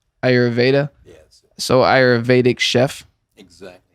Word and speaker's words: Ayurveda: Johnny Brannigan is how do you say I always pronounce it wrong. It's actually Ayurveda. Ayurveda.